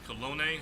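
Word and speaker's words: colón: The currency is the Costa Rican colone, is how you pronounce that.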